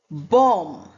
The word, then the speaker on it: bomb: Bomb, climb, lamb, doubt, humle. Now see bomb. B O M B is not articulated.